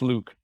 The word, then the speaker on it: LIWC: It's linguistic inquiry and word count, LIWC. pronounced Luke.